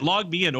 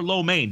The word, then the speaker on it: LogMeIn: coincidences out here so you got logmein or lo mein depending on which way you want to go ahead and pronounce it where you want to put the emphasis you've got it moving